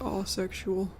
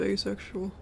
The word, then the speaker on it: asexual: it's it's so funny he pronounces it aexual instead of asexual hi minky I bet